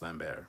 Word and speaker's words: Lambert: there signed by him uh i love christopher lambert or lambert who's actually pronounced lambert but um yeah i need to see it